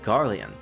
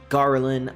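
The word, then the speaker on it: Gariland: Delita is Ramza's childhood friend and knight apprentice of the Royal Military Academy at Garian. I'm sorry, Garlin. I have to remember that's how it's pronounced.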